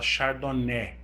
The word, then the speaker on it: chardonnay: a índia pinoar xardoné se escreve chardonnay mas se fala xardoné tá então eu sirvo